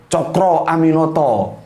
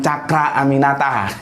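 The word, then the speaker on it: Cokroaminoto: Yang penting kita paham bahwa itu adalah dimungkinkan pengaruh Jawa, karena Jawa paling kuat pengucapan huruf O-nya. Cokro Aminoto, bukan Cakra Aminata, gitu kan?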